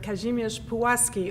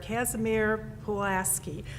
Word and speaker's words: Kazimierz Pułaski: Kosciuszko is the mispronunciation, or Kazimierz Pułaski, or Casimir Pulaski is the way most Americans pronounce it.